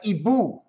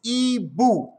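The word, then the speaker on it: hibou: owl the owl that's ebu we're french don't pronounce the h it's e boo boo is guardaboo is to watch out for but it's ebu don't pronounce the h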